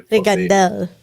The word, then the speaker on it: Regandell: it's a Swedish thing, so Regandell is actually Regandell. yeah, so it's actually the emphasis on the second one.